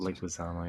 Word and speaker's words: Leguizamo: John Leguizamo, I think it's pronounced. Leguizamo, yes.